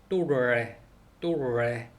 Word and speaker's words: torre: 또레 탑 이란 뜻인데 이것도 TORRE R이 두 개 들어가서 또레 이렇게 된다고 합니다.